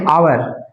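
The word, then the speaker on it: hour: इसको नहीं पढ़ते हैं अब आवर आवर आवर में भी ए साइलेंट रहता है इसका भी साउंड क्या निकल रहा है वोवेल साउंड आवर तो एन लगाएंगे।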